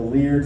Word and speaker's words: Leard: bedc boarding with the leard family I believe it's pronounced weird l e a r d see I've been